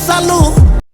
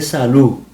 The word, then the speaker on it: salud: When a word ends in a D, we say, for example, salud. We don't say salud. That is the correct way to say the correct way to say it, but we say salud.